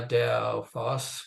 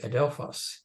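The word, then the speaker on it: ἀδελφός: yeah with the act with the emphasis on the last one because that's where the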